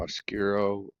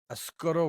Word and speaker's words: Oscuro: And so this is uh, a Habano Oscuro wrapper that You better pronounce that Oscuro.